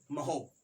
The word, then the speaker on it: mho: Inverse, तीसरी Simon, और चौथी MHO, महो। ठीक है, महो कहो या महो कहो, जो मन हो वो प्रोनाउंसिएट कर सकते हो, लिखा जाएगा क्या, MHO।